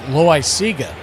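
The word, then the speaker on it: Loáisiga: I've been mispronouncing this gentleman's name. It's Loaiziga. It's a mouthful.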